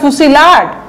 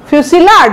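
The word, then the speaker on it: fusillade: তো স্যালভো ভলি ফুসিলাড, ফুসি দেখেন উচ্চারণটা ফুসিলাড, ফুসিলাড ডাবল এল আছে, এই তিনোটাই ইম্পর্টেন্ট, এই তিনোটাই আসবে একই মিনিং।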